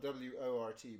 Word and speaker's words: wort: out of this, and this will become our wort. That's spelled W-O-R-T but pronounced wort, and that's the basis for our beer.